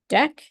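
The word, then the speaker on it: deque: qu e e so this is pronounced deck and that's something different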